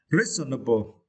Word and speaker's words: reasonable: The word reasonable, okay, reasonable, okay. And for this word, you should not pronounce like this. It is wrong. Reasonable, it is wrong. You should pronounce reasonable, because this is silent syllable, right?